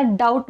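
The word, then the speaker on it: doubt: इथे केला जात नाही आणि सेकंड वर्ड मध्ये टी डी यु बी टी आहे याला डाऊट म्हणतात इथे सुद्धा बी चा उच्चार केला जात नाही आता तुम्ही म्हणाल मॅम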